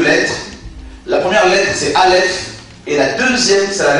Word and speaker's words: Aleph: On aurait pu penser que le Seigneur allait commencer les Écritures avec la lettre Aleph. Aleph est une lettre muette. On va la prononcer comme le H muet en français.